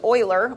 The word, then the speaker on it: Euler: um and so yeah it is Oiler Oiler was his name it was back in